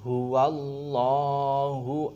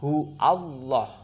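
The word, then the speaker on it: هُوَ ٱللَّهُ: Pertama, kata huwallah. Sebagian orang membacanya sebagai qul huallah. Ah, tidak. Jadi ada huruf waw di sini. Huruf waw bertemu dengan lam jalalah.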